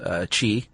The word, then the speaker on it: qi: And that your body has an energy running through it called qi, even though it's spelled Qi.